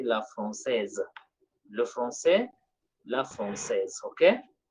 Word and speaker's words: française: Here, this S is pronounced and becomes Z. So we say le français. This S is silent, but here it is pronounced because of the interruption letter E. So we say la française.